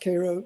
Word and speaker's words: Cairo: But yeah, pronounced Cairo like the syrup, like K-A-R-O.